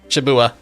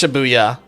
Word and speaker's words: Shibuya: I think that was one of the arc Shibuya. I know, I pronounced it wrong. It's Shibuya. I missed the Y in there. Buya.